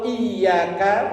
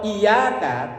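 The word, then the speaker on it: إِيَّاكَ: Kalau iyaka pakai yanya pakai tasdid bacanya ditekan itu artinya hanya kepada Engkau ya Allah. Tapi kalau iyaka tanpa tasdid iyaka na'budu wa iyaka nasta'in artinya hanya kepada sinar matahari pagi nabudu kami menyembah.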